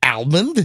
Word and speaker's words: almond: Yeah, it's not an almond. Yes, it is. It's an almond. The Oh, it's an almond. It The L is silent.